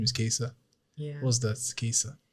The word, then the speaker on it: Kaesa: said your name is qua yeah what's that quesa how do you spell it's spell k a s e yeah what